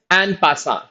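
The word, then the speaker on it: en passant: The first one इज एन पासा. पी is silent.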